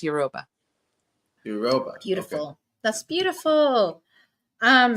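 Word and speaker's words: Yoruba: am I correct yes in euroba oh euroba euroba is that how you pronounce it yeah you can't just say n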